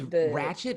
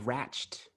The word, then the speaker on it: Ratched: I'd say that, but it's Ratchet. It's not Ratched.